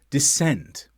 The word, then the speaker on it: descent: Science, scene, descent, where C is silent after S, although it only applies when followed by E or I sounds.